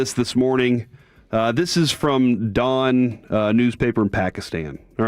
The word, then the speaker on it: Dawn: I'm assuming you skipped the exact pronunciation for... maybe, is it Dawn? Oh, I thought you were saying it was Dom something. Dawn.